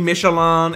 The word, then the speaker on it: Michelin: a challenger bring up michelin now i know before you say in the comments oh it should be michelan it's french i'm british i'm gonna pronounce it michelin alright michelin initially raced